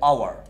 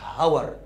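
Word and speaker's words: hour: اذا كان الحرف الاول سايلنت تشتغل على الثاني زي اور. الاتش دي ما اتنطقتش اصلا، ما قلتش هاور، اور. يعني اشتغل على الاو. جميل.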